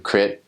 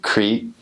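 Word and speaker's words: คริสต์: I notice a lot, new missionaries pronounce it E, which is very English, like Prat Yesu Krit, instead of Prat Yesu Kreet.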